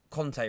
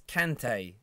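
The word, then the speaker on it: Kanté: And on that, why have people started calling Kante Conte recently? Commentators, fans, it's Kante. It's spelt with a K and an A. not a C and an O.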